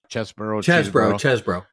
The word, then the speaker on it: Chesebro: Okay, so you mentioned that first Chesebro, is how you pronounce it? Chesebro.